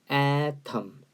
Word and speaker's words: atom: 그래서 분자 그리고 atom 아톰이라고 읽지 말고 atom 이게 원자라는 뜻입니다.